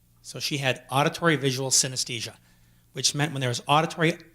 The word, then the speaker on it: synesthesia: idea what that is not emotions it's called synesthesia and yes I will spell it for you it's sy n es th yes I a synesthesia it means perceived together it's basically the result